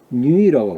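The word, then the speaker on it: 女: 누가 아니라 뉴이라고 발음해야 돼.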